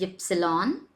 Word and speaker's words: Ypsilon: So next alphabet is W, which is pronounced as way. X is X. Y. Now this character is called as ypsilon, and whenever it appears, it takes the sound of y.